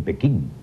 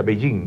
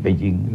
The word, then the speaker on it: Beijing: Porque Beijing es el nombre fonético en que se pronuncia la capital china, se denomina capital china Beijing. Los chinos nunca dicen Pekín.